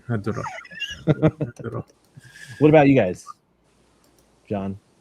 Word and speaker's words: Hedorah: Nope. It's Hedorah. And actually I say it like Hedorah, all even like that too. Not Hedorah. Right. Hedorah.